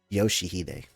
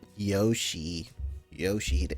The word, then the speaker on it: Yoshihide: Yoshihide. That's how you say it. Yoshihide.